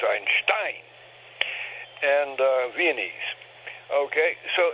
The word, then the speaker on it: Einstein: his name vion pronunciation Accent on the last syllable not the first as as one would ordinarily think in in German in German one would think Einstein but it's Einstein and uh viene okay